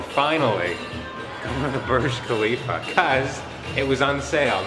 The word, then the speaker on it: Khalifa: KH is pronounced Kha. So DJ Khalid, the Burj Khalifa.